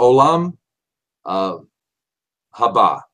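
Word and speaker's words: עולם הבא: it ha ha ha Olam haba believe is how we pronounce it in Hebrew the world to come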